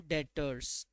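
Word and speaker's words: debtor: क्या बुलाते हैं डेटर्स मैंने आपको बताया था कि इसमें जो है एक चीज साइलेंट है कौन सी चीज साइलेंट है बाबू उसमें ने यह बी नहीं पढ़ना है बी साइलेंट है आपके लिए ठीक है तो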